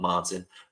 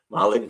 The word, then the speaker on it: Marlin: finally Marlin Klein from Marlin Klein, not Martin, Marlin Klein from Michigan to the Texans.